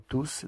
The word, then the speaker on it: tous: Nous sommes tous d'accord. Обратите внимание, что местоимение «tous» произносится с «s» на конце, в отличие от прилагательного во множественном числе.